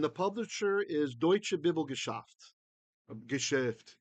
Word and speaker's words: Geschäft: Geschäft, say it right.